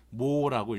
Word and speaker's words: MHO: 요거를 어떻게 읽냐면 오음은 OHM이죠. 얘를 거꾸로 쓰면 MHO라고 해서 모라고 읽어요. 그래서 모로 읽는다라는 겁니다. 등값 그래서 요렇게 직류 전원과